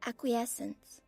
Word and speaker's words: acquiescence: Acuent pronunciation. Oh, here. Acquiescence.